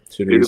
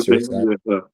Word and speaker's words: Itta Bena: Um I don't know if I'm pronouncing it right. Itta Bena Itta Bena.